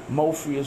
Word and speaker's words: Mofias: You gotta learn about Mofias, Mo4. Did I say it right that time? Yeah, you said man. It absolutely right that time. You gotta learn about the Drip Squad, Mofias, right.